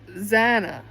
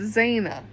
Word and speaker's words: Xana: I think we can all agree that it's Xana, not Zena. And that's what Jacobson calls her. I'm pretty sure that we've heard Xana's mom and dad both say her name, and that's how they pronounce it.